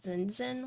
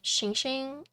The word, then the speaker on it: Xingxing: So most people say like zinzin, which I don't mind, right? But it's like xingxing, it's shing. So when I spell it out like, oh, it's like shing, then it's like easier for people, right?